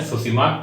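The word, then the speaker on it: Tsushima: होकर प्रवाहित होता है जिसमें बोलते हैं सुषमा करें ठीक है तो इसे मानते जापानी सब है जिसमें चीज साइलेंट है तो दुश्मन करंट है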